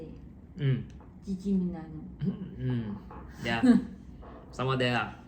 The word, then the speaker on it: San Gimignano: So after Florence, we went to San Gimignano, is it? That's how you say it? Gimignano.